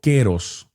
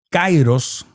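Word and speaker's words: kairós: de Dios, el queros, se escribe cairos y se pronuncia en griego queros. El cairos, para que me entienda,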